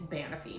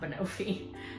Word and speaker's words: banoffee: My aunt told me that I was pronouncing it wrong. It's banoffee, not banoffee.